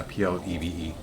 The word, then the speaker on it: plebe: Yeah, Plebe. Are you talking pleb? No, I don't want that. Plebe. Yeah, freshman in a military or naval academy. There you go. Yeah, and it's pronounced pleb.